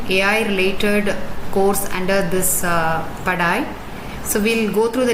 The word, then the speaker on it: Padai: So this term is pronounced in three different ways. Padai, it's a Hindi term, it's nothing but study. Pad AI is study AI. Padai is a Tamil term which is way in English.